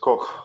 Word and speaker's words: Koch: Like how it's supposed to be pronounced Koch.